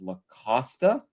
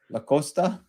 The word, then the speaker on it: La Costa: Oh, so I say La Costa? La Costa. La Costa. Sorry for my You're going with the Yes, you're going with the traditional Spanish pronunciation of the It's Casa Grande, not Casa Grand.